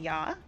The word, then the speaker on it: ja: Nine and ya is exactly how you pronounce it.